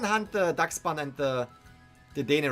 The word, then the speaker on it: Dedenne: Dedenne.